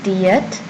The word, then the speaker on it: 티읕: Our letter for today is Tiyat. Tiyat. Alright. And the pronunciation in English, it's almost a T sound, almost, but not entirely.